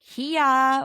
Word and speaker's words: Keya: So first new person that we're meeting is Kia, which is spelled Keya.